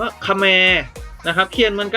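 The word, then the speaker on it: เขมร: ลุก ชนิด หนึ่ง กับ อีก คำนึง อ่าน ว่า ขะ แมร์ นะ ครับ เขียน เหมือน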